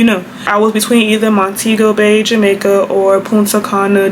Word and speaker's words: Montego: I know it's Montego Bay, but sometimes I'm gonna say Montego, so like that's just a disclaimer. I'll be switching in between, but I think the proper pronunciation is Montego.